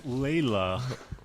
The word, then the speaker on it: Layla: you're pronouncing it we're not yet sorry its Layla spell that I have to get something embroidered earlier